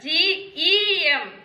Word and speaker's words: gem: And this word G-E-M, G-E-M, gem, not gem. इसको हम कैसे रीड करना है? This is soft G. When G proceeds before E, I, Y, we have to pronounce as J.